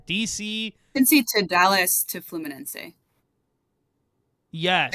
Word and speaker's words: Fluminense: So we brought up you pronounced it correctly. Could you do that again for me? Fluminense.